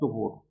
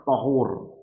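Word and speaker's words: طُهُور: lagi, dari gurunya lagi sampai sahabat pengucapannya tuhur. Thur. Nah, ada juga yang membacanya itu dengan fathah thahur. Nah, itu beda arti. Kalau thuhur dengan di domah tha itu maknanya adalah attatahur. Maknanya adalah bersuci. Bersuci dari apa?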